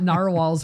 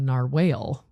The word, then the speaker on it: narwhal: you because I well I used to think it was called a Nar whale would make more sense